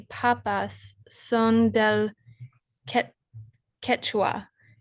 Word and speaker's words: Quechua: Quechua. Quechua.